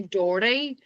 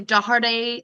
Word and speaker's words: Doherty: In Derry, we say Doherty, and that is, I believe, incorrect. People tend to say Doherty, give it the 3 syllables. We say Doherty.